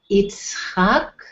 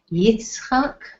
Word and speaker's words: Yitzchak: These are the Hebrew pronunciations, so you'll know we'll be using the Hebrew pronunciations very often. So you have Avraham and Sarah, Yitzchak and Rivka. Yitzchak, Isaac.